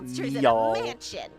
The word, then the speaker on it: Niall: I've been calling Niall Neil this whole time. I think it's been a while since I heard his name pronounced. I was just going off N-I-A-L. Niall.